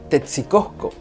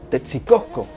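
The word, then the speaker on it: Tetzcoco: El vocablo Texcotzinco tiene su raíz en la palabra Texcoco, que a su vez es una deformación de otro vocablo náhuatl, que en su correcta pronunciación sería Tetzicosco, Tetzicosco.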